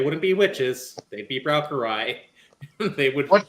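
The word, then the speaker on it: Braucherei: They'd be browarai. They would What's the word? What can you spell that for me? Sorry. Uh, browery. It's German.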